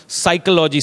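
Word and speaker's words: psychology: वह साइलेंट होते हैं साइकोलॉजी की स्पेलिंग जो होती है वह स्टार्ट होती है मगर हम साइकोलॉजी सी से उसको बोलते हैं तो वो पी जो है वो साइलेंट है इसी प्रकार से पंजाब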